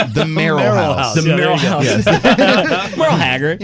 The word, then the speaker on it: Merl House: It's not the Merl like Merl Haggard. It's the Merl House.